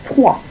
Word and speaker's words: trois: And in this case, 3 is trois. Trois. Now, yes, I know there's an R there, but trois. In this case, it is trois.